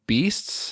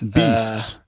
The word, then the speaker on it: BYSTS: the name of your band so uh it's pronounced beasts beasts even though it's spelled not like it sounds